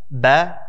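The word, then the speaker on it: ب: the way in pronouncing the letter b is making sure that you don't say or even add elements of the english letter p into it so we're not saying we're saying the arabic letter ba doesn't have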